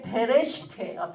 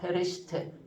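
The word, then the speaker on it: בראשית: 그래서 여기 맨 끝에 보시면 1이라고 써 있는데 첫 번째 게 베레시트예요. 베레시트. 태초에. 첫 번째 이렇게 기억처럼 생긴 거 있잖아요. 그게 부발음이 나는 거거든요. 베레시트.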